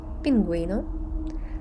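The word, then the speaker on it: pingüino: не звучить гітара гепардо а от якщо над нею стоїть дві крапочки то звучить пінгвіна агуйте а тут вона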